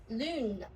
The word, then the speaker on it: lune: So, if I erase here as well, in the vowel strategy, we have e French lune. Lune, which is rounded position.